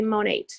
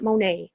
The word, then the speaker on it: Monat: dot-com by the way you do say Monat it's not mone you st. the T there's two ways to pronounce it Mon age or Mon eat I don't know I